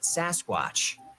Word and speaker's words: Sasquatch: Mainstream media anglicized the pronunciation and called it Sasquatch, and a legend was born.